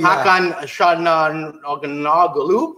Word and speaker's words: Hakan Çalhanoğlu: Yeah, and we still haven't learned to how do you pronounce that guy's name? Yeah, his number 10, Hakan Çalhanoğlu.